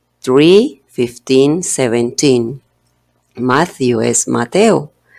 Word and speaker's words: Matthew: matthew tree lifting seventeen matthew es mateo y vemos la otra vez la combinación de la tela h pero decimos matthew sabemos que si se pronuncia la t también no tan fuerte no decimos matthew vacío